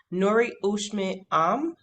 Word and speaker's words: Noore Cheshmam: She is the owner, designer, and founder of her brand, Noore Cheshmam.